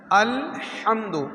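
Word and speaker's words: الحمد: আল হামদু আল হামদু হা তিন প্রকারের হা জিমের পরের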